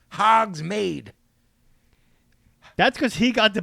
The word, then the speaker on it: Hogsmeade: Pablo it's fucking Hogsmeade, MEAD, pronounced Hogsmeade.